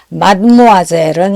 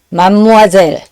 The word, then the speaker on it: mademoiselle: 그리고 지난번에 잠깐 소개했듯이 마드모아젤은 이제 발음을 세 가지로 할 수 있는데 이제 발음 규칙에 들어맞는 거는 첫 번째죠. 마드모아젤. 그리고 이제 일상생활에서 하다 보면 이 단어도 길고 발음도 기니까 약간 그 단어 내에서 그 자음 모음 사이에 변화가 오죠. 그래서 맘무아젤 혹은 만무아젤, 드 음이 사라지고 M이 한 번 더 나오거나 N이 나오거나 이런 식으로요.